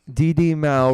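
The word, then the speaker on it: di di mau: so go go quickly dd mao rhymes with cow yeah it's a it's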